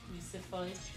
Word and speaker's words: Lucifuge: Lucifuge. Fudge. It's like a centrifuge.